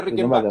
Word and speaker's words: Rickenbacker: Se dice Rickenbacker, Rickenbacker. ¿no? Rickenbacker es Rickenbacker, Rickenbacker. mira, Exacto, Rickenbacker, sí.